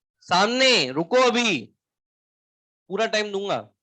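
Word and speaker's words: psammo: या फिर हो सकती है सैंड, सैंड के लिए वर्ड यूज करा जाता है सेमो, पी साइलेंट है, सेमो आगे जोड़, सेमो सीर।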